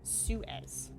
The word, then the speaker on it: Suez: me Google how pronouns Suez Susie how to pronounce sure Suez Suez Sue as thank you Tony Suez smack in the middle of the Suez Bazaar